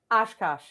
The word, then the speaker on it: Oshkosh: Oshkosh. Oshkosh. Okay. Like like the bib overalls.